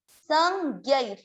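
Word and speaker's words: संज्ञैर्: स, संज्ञैर, संज्ञैर। ध्यान दें, स के बाद आधा न बोलेंगे जो इसके ऊपर है, संज्ञैर। ज्ञ पे ऐ की मात्रा है, ज्ञै, ज्ञै, संज्ञैर, संज्ञैर।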